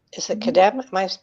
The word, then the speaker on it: Kedem: So it isn't just, you carry brands like Kedem. Is it Kedem? Am I pronouncing it right? Yeah, Kedem, grape juice.